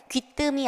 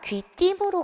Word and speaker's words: 귀띔: 자, 여기 자음이 이렇게 있으면 이 자음을 초성으로 가지고 있는 의는 무조건 발음을 이로만 하셔야 돼요. 그렇기 때문에 귀뜸이 아니라 귀띔으로 가는 것이 맞아요.